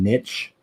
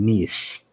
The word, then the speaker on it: niche: It's typically pronounced with a soft CH sound like niche, especially in British English.